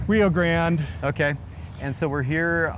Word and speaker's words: Rio Grande: So we've strolled our way down Rio Grande and uh you guys pronounce it Rio Grande or Rio Grande? Rio Grande.